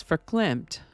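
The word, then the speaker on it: verklempt: tomorrow today's word is for clamp which I have discovered is actually pronounced with the beginning F sound rather than a v sound for climp is an adjective that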